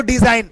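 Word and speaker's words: design: और में दिखे जाए तो वहां जी हमारा साइलेंट होता है जैसे इसको डिजाइन लास्ट में गण दिखे गया ना तो क्या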